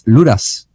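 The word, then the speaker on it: Luders: And he tells me it's Ludas. Ludas.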